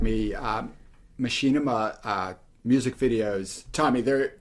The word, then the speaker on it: Machinima: Macchina Mia music video? I don't know how you pronounce that, but I know what you're talking about. Machinima.